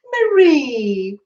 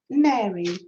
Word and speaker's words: Mary: or ask violet too marie oh it's not marie it's mary if i'm saying you're